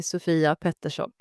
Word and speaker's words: Sofia Pettersson: Yeah, so it's a Swedish name, so it's pronounced in Swedish. You say Sofia Pettersson, but it's fine.